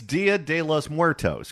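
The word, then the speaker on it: Día de los Muertos: It's Dia de los Muertos. Correct.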